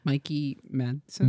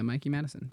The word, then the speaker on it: Mikey Madison: Mikey Madson. Madson. It was like Mikey spelled like my name. Oh, yeah. Mikey Madison.